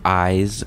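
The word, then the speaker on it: Iz: destroy the anomalies and it's pronounced eyes sir warning anomalies can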